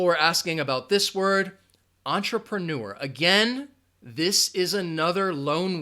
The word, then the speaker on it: entrepreneur: who starts a business it has four syllables entrepreneur with no entrepreneur there you go entrepreneur entrepreneur person who starts a villa business entrepreneurs say it after me entrepreneur entrepreneur entrepreneur and you are going to have that schwa sound in that second and third syllable ah try pro nor entrepreneur alright the next word